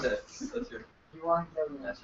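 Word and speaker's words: εὐαγγέλιον: there, Pronounce so- it. Let's hear. Euangelion.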